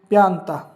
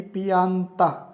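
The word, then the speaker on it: pianta: चिट्ठी या पत्थर उना प्याता अगर धीरे-धीरे बोलोगे तो ध्वनि ऐसी आएगी पियाता और सही उच्चारण करोगे इटालियन की तरह तो कैसा आएगा उना प्याता एक पौधा उना स्कार्प उना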